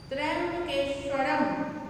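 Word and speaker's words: त्र्यंबकेश्वरम्: त्र्यंबकेश्वरम, म में हलंत है तो त्र्यंबकेश्वरम।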